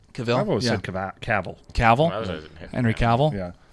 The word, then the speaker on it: Cavill: out so good but Cavill pronounced Cavill Cavill Cavill henry cavill